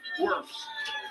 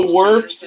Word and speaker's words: Wirfs: So Wirfs is a Buccaneer, and he's gonna try to help Tom Brady. Or Wirf. I keep calling Wirfs. I think his pronunciation is Wirf.